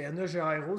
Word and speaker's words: negro: Ça se dit même pas pareil. Tu sais, c'est N-E. Tu sais, ça s'écrit pareil, mais c'est comme un I, genre. Ah, c'est N-E-G-R-O, c'est negro. Negro.